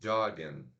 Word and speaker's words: jogging: Jogging, nós temos dois sons de vogais, ó. O, jog, aquele A que a gente engole a língua, né? Jogging, jogging. Então a gente tem que separar em duas sílabas.